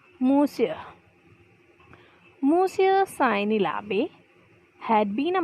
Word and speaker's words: Monsieur: Like अभी हम देखें, अगर हम नेचुरली इसे देखें एज अ स्पेलिंग जैसे वो लिखा हुआ है तो हम उसे क्या पढ़ेंगे? मॉन्जियर, राइट. लेकिन actually it इज़ नॉट मॉन्जियर, इट्स मूसियर.